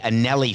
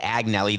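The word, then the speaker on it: Agnelli: of Juventus is the Anneli family I said AG Nellie the G is silent the Anneli family in Italy thank you for that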